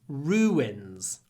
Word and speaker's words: ruins: can say Ru you don't need to put a w sound between the vowels but we do we don't like two vowels next to each other so we say Ru wins Ru wins ruins ruins ancient ruins what else